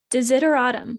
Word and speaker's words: desideratum: of the week is de zitter autumn i think it's how you say it to zitter autumn d-e-s-i-d-e-r-a-t-u-m and it is something that is needed or wanted so it's kind of like like desire is in there autumn is it or autumn yeah or autumn that was hard for me to say uh because the s is not a s sound consider it's weird interesting